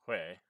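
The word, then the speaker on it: Huế: these names other than it's not Hue it's way and I think I made that mistake a couple times calling it Hugh it's way I know that much uh so these three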